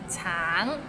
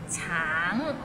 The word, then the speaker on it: 橙: Tang, it means orange, but some people might find it difficult because the end has a little ng, so it's a bit of nasal sound. Tang, tang.